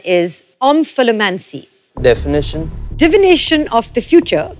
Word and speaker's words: omphalomancy: Your word to spell is omphalomancy. Definition? Divination of the future by studying the navel. Origin? Middle English. Usage in a sentence? The priest used omphalomancy to convince the queen that she would have more than 5 children.